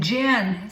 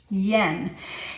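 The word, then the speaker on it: Jan: of you call him gen C art but the j-a-n is actually pronounced Yen you've heard me speak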